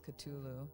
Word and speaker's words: Cthulhu: exactly how you just said it it's almost yeah it's catulu dang that's wild all right well we've been ruining it for years then sorry so is that